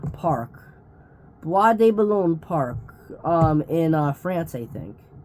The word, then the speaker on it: Bois de Boulogne: a lake, which I actually wrote out the pronunciation. It's Bois de Boulogne Park. Bois de Boulogne Park, in France, I think.